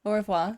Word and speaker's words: au revoir: I don't think you pronounce the R. Au revoir.